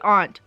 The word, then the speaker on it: aunt: they both lived in Stanton, California with her aunt at the time. Yes, I say aunt.